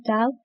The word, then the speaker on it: tau: Time constant, which is denoted by this letter, pronounced tau, is defined by the time needed to perform 63% of the charging or the discharging process.